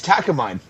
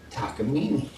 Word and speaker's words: Takamine: The Japanese pronounce it takamini. Yeah. See, it still sounds like takamine to me.